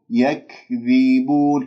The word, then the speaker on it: يكذبون: لدينا كلمة يك، يك، هنالك من يقول يكذبون، الكاف والتاء مهموستان، هنالك من يبالغ يقول يكذبون، هذه مبالغة في الهمس، أو هنالك من يقلقل يكذبون، هذه أيضا خطأ. إذن انتبهوا، يك يكذبون، يكذبون، كسر الذال جيدا، ثم بعد ذلك هذه